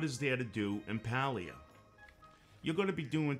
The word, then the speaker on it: Palia: laid-back chilled relaxed game this game may also be pronounced as paleo papalia just feels more natural to me there is not too